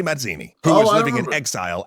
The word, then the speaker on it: Mazzini: free independent Republican Nation you'd say it like a jepe Masini neither of them could